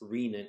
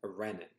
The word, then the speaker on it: renin: It's pronounced renin and not renin.